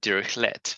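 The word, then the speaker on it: Dirichlet: of them it's on Direct let because um is French and they don't pronounce the t uh at the end and another simple example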